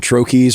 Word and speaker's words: troche: you look it up, I think it's from the French. I think you're supposed to say Troche. Something like that. Yeah. Okay. The common pronunciation is troche, so let's just stick with that.